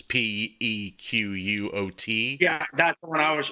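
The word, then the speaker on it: Pequot: Yeah, the Niantic Eastern, the Nipmuc, the I don't know how to pronounce these. It's Pequuot.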